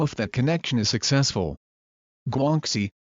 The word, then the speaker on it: guanxi: that connection is successful guanxi pronounced quinchi which are social or